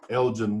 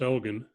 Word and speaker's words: Elgon: welcome to the show Elgin thank you Elgin didn't like you forever me okay my name's my name is actually pronounced elegan elegant okay yep that's